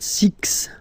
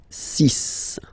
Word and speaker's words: six: So it's not six, it's six, all right?